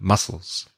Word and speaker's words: mussels: mu SS e LS the pronunciation is exactly the same muscles I know one country